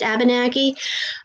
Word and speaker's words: Abenaki: fifth generation ab abinaki it's pronounced abenaki um that would have